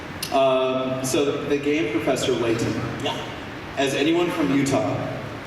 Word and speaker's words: Layton: of power that's true the glottal stop it's a very utah thing oh okay i have